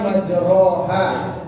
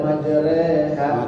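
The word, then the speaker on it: مَجْرٰىهَا: Harusnya kan majroha, ya. Tulisannya majroha. Tapi kan ada hukum imalak namanya. Rohnya berubah menjadi rek. Yang paling betul itu adalah reknya itu, rohnya tetap, mulutnya tetap monyong roh, tapi bacanya rek.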